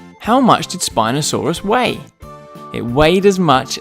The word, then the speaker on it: Spinosaurus: Spinosaurus. Can you say it with me? Spinosaurus.